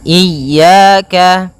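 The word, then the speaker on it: إِيَّاكَ: ini hati-hati dalam pelafalannya ada dua kesalahan yang sering terjadi yang pertama yaitu dia memanjangkan Iya nah seperti itu harusnya dia ee ditekan dan dilembutkan iyaka iyaka nah kemudian jangan sampai dibaca panjang jangan iaka tidak ada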